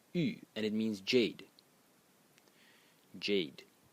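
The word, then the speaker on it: 玉: element, or this character over here, which is pronounced u, and it means jade.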